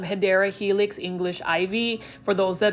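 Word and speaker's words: Hedera helix: favorite this is a HRA helix or the correct way to say it is um hadera Helix English ivy for those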